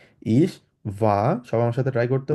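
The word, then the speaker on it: ich war: যেমন ইস ভা, যেহেতু এটা ডাব্লিউ, ডাব্লিউকে আমরা জার্মানে ভে উচ্চারণ করি, ওই জন্য বলবো ইস ভা। যদি আপনি চান আরটা বলতে পারেন, ইস ভার বলতে পারেন, কোনো সমস্যা নেই, তবে আমি সাজেস্ট করব ইস ভা বলতে, কারণ আরটা উজ্জ্ব রেখে বলবো।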